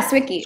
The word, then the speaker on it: Swickie: And by the way, is that how you pronounce it, Swickie? Yeah, Swickie. Swickie?